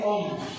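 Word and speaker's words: ॐ: dibacanya ini om ya yang mempresentasikan Tuhan yang maha esa, Brahma atau pencipta pencipta Wisnu.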